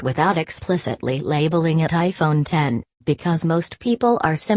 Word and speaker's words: iPhone X: September 23rd Apple says you are supposed to pronounce the iPhone X as iPhone 10 and it's designed to